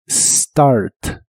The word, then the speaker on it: start: Se pronuncia tal y como se escribe, empezando con el sonido de la S. Start, start.